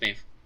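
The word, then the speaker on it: Medb: Basically, like, if you started America, you should notice, and you've probably been able to guess, but basically what Maeve, it's pronounced Maeve, right? Yeah, it's Maeve.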